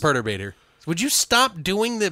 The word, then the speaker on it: Perturbator: me and also I'm gonna be how it's pronounced its perturbator would you stop doing the British thing is